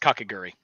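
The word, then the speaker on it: Kakegurui: is the one it's it's pronounced kakaguri yeah davion's going to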